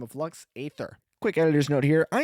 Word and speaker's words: Lux Æterna: Just for future note, the song is Lux Æterna, not Lux Æther.